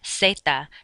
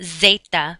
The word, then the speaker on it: zeta: s so for example how you say z in spanish is z-e-t-a ceta not zeta but another thing to